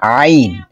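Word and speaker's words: ع: প্রথমে কণ্ঠনালীর মধ্যভাগ হতে স্বাভাবিকভাবে আমরা বলতে পারি যে গলার মধ্যখান থেকে এই আইন উচ্চারণ হবে। আইন এবং হা, আইন এবং এই যে আইন এবং হা, এই দুটো একই মাখরাজ হবে, এবং এই দুটো হরফ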